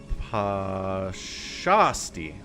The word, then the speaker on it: Pashasti: The accent is on Shah. Pashasti.